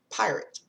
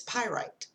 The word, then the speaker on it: pyrite: pronouncing it wrong so this is pyrite I've been pronouncing it pirate it's pyrite alright so that's from